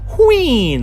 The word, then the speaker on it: Wheein: And for this one, same situation, but if you really wanted to sound it out, you could say Wheein as 2 syllables. But I believe, don't quote me on this, her name is supposed to be said as 1 syllable like Wheein, like queen.